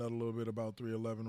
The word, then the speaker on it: 311: They're pronounced 311, is an American rock band from Omaha, Nebraska.